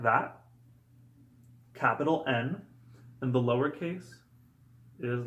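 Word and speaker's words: Н: our false friends is the letter N now n looks like this when typed and printed as you can see it looks like the English H however it makes the sound like the English N and the cursive versions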